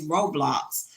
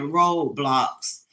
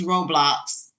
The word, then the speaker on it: Roblox: It's Roblox. So now I'm saying it correctly because I was calling it Roadblocks. It's like, nope, that's not it. It's Roblox.